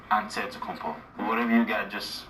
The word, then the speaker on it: Antetokounmpo: the spelling of Giannis Antetokounmpo's last name. He helped set the record straight of how you pronounce it. In the real way, you gotta say it with a D, so it's Antetokounmpo.